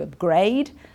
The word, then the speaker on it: upgrade: and you want to upgrade okay and then you get an upgrade you can see here the stress is on the up upgrade so this is tricky